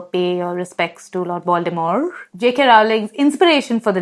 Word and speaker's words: Voldemort: Coming to Lord Voldemort, apparently the T in Voldemort is silent. So it's Voldemort.